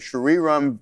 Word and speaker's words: Shriram: This week, VinFast India partnered with Shriram Finance to support EV.